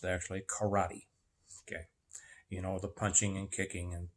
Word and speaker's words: karate: How it is properly pronounced is karate. Karate, meaning kara and te.